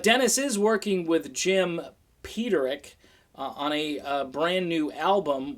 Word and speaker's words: Peterik: and this goes way back I thought you pronounced it but Eric but it's Peterik because I heard Jim say Peterik and so now I know now you know